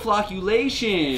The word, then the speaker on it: flocculation: Sam look look look look how it's spelled Oh flocculation population right so these are our